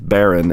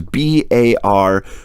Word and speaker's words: Barone: Anyway, Elizabeth Barone, and Elizabeth, if that's Elizabeth Barron, and I'm pronouncing it incorrectly, you have my sincere apologies. It is Barone.